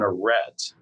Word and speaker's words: Arête: So an aret as we spell it and as we pronounce it is a thin fin of rock that separates two valleys that once held glaciers.